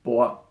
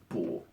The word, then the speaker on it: 卜: And the other weird thing is that when it's used in that word, it's pronounced bo, B-O, with a neutral accent, and not 补.